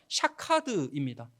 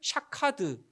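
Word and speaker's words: שָׁקַד: 아몬드 나무이 살구나무는 히브리어 샤케드이거든요. 샤케드. 그런데 지키다라는 동사가 히브리어로 뭐냐 하면 샤카드입니다. 샤헤드. 샤카드. 비슷한 어 발음이 비슷한 소리가 나고 있는 어 단어들이죠.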